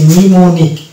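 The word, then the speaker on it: mnemonic: পাওয়া গেছে সেটা হচ্ছে এই যে নিমনিক এই শব্দটির ক্ষেত্রে আমরা দেখতে পাই যে এন এর আগে এম আছে তো এইজন্য এই জায়গাতে এম কিন্তু সিলেক্ট হয়ে গেছে তো এই শব্দটাকে আমাদেরকে উচ্চারণ করতে হবে নিমো নিমো নিক এই কিন্তু থাকছে এই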